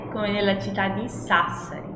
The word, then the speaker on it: Sassari: Então, quando eu tenho a sílaba SA no início de palavras, eu sempre vou pronunciar como sa, como em Sassari, como em sapere.